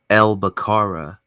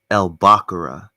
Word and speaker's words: Elbakara: So the one that I go by the most is Elbakara, but another valid pronunciation for both of my names would be Elbakura. So, um, huh.